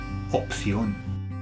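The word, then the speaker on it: opción: So option is opion or opion. So listen option opion opion same no different.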